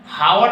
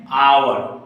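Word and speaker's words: hour: यहां देगा fill in the blanks आवर तो लिखा है आवर लेकिन हम लोग इसको पढ़ते हैं हावर नहीं आवर क्या पढ़ते हैं हावर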